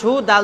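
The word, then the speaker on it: هُدًى: হ্যাঁ তো হা পেশ হু দাল দু জাবার দান কিন্তু যদি আমি ওখানে থামি তাহলে হুদা বলতে হবে কি বলতে হবে হুদা হুদা তাই বলতে হবে হ্যাঁ তারপরে আবার এরকমই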